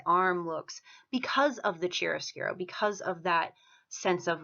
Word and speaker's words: chiaroscuro: First is chiaroscuro. That's how that's pronounced.